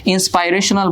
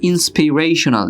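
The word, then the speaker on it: inspirational: ওকে, ইন্সপাইরেশনাল বলো তোমরা, এটার উচ্চারণ হবে ইন্সপিরেশনাল।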